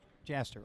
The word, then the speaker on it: Jaster: Jaster, okay. All right. I pronounce the names right here.